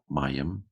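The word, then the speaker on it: מים: Mem, patak, yod, hirik, mem, mayim.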